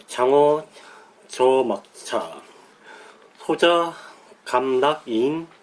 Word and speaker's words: 且莫車: 읽을 때 여기 또 저라고 읽어요. 읽을 때는 저라고.